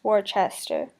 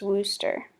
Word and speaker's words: Worcester: In the making of this film, Worcester was pronounced Worcester. The actual pronunciation is Worcester.